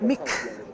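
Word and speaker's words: མིག: You may notice that I'm saying mig, not mig. In English, we have a habit to sort of add almost a bit of an extra syllable to our terminal consonants. But in Tibetan, when they say terminal, they mean it. So, mig is very, very short.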